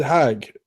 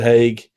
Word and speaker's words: Haig: And Sid Haig, I think it's how you pronounce his last name, Sid Haig, who's actually Devil's Rejects,